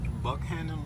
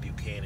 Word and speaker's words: Buckhannon: this people out here Buck hand in West Virginia I was calling it buan and I feel terrible